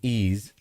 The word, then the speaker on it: Ys: It's called Wise and it's pronounced Ease. Okay. So, it's pronounced Ease.